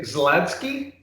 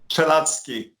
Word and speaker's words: Czeladski: And can I say Zladsky? Czeladski. Oh, Czeladski. Okay. I've had a few Polish students over the years, and I've been schooled in pronunciation, but I've got it. CZ Czeladski. Okay.